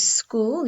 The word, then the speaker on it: school: says a silent h because a school contains a silent h okay boys hope you're